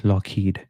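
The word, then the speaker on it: Loughead: okay okay makes sense so you basically pronounce it as loed even though it is said it is written load they simplify the pronunciation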